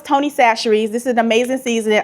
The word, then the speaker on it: Chachere's: But baby, when I first started on social media, I used to say Tony Chachere's because that's how my mother pronounced this seasoning.